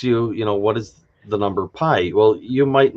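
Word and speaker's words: π: And if you ask somebody what's the number pi, if they knew what the letter was, of course in Greek it's pronounced p, not pi, but whole different story there.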